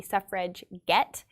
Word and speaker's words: suffragette: made it their own because they would put a hard g in it it would be suffrage get as in they are